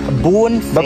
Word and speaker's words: Bonfire: Ako po si Bonfire. Yun talaga yung right pronunciation. Yes, right pronunciation ng pangalan ko. It's Bonfire.